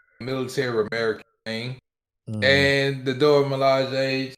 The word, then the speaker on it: Dora Milaje: Dora Milaje. Yeah, the Dora Milaje.